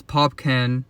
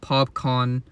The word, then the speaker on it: Popcaan: it's very obvious that Ryan go Ling is popan or I believe his name is pronounced popcon but as you can see it's very obvious